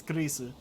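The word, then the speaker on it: クリス: Oh, yep, yeah, that's definitely the Japanese pronunciation of Chris, is Kurisu.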